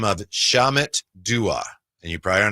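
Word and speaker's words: Shamit: Can you spell it for me, please? S H A M I T. Shamut.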